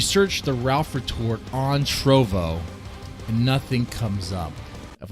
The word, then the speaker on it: Trovo: Is it Trollo or Trovo? Am I saying it wrong? It's Trovo. I was saying Trollo.